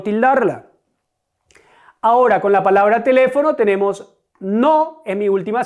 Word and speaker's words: teléfono: Ahora con la palabra teléfono tenemos no es mi última sílaba, fo mi penúltima sílaba y le mi antepenúltima sílaba. ¿Cuál es la sílaba tónica? Teléfono. Mi sílaba tónica es le.